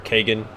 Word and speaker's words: Kagain: Like Zan, Nature, take the life Kagain, or Kagan. Oh, I'll show you a It's spelled like Kagain, but it's pronounced Kagan, I believe, for Baldur's Gate 1.